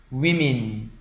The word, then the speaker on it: women: 단수형은 woman, 복수형은 women 이렇게 바뀝니다.